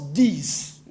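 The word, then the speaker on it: these: On le lit, on le prononce pas de mais on les prononce 10.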